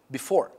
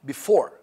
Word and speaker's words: before: Because before has got two syllables, and here the stress, the emphasis, the focus is on the second part of the word, which is the second syllable, okay?